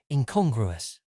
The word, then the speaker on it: incongruous: Today's word is incongruous. It is spelt I-N-C-O-N-G-R-U-O-U-S. Thinking, con. Grew like the character in the Despicable Me films, then O-U-S.